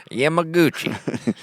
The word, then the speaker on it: Yamaguchi: broke into homes and schools across Yamaguchi City Yamaguchi that's how you'd pronounce it yeah I'm a Gucci I grew